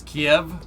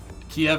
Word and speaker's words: Kiev: doesn't do that right kiev is the russian pronunciation ah so yeah probably